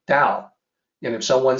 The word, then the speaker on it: Tao: If I say someone pronouncing Tao, the Tao, I'll say, well, you're wrong about that. It's actually Tao.